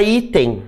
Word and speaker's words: item: perguntam assim a palavra item né a palavra item não leva acento nunca né nem no singular e nem no plural né I tem qual é a sílaba tônica é o i ela é uma paroxítona